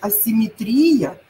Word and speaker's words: асимметрия: асимметрия нет нет вот запомните асимметрия но ветеринария вот здесь они в корне отличаться по ударением дальше и и следующее